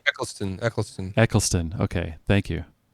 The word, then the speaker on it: Eccleston: never get it right a clicklisted all right Eccleston Eccleston Eccleston okay thank you I know every time I've pronounced it everyone's been like cringing I'm butchering